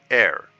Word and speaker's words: heir: But I did find Uriel's hair. Some would pronounce it air.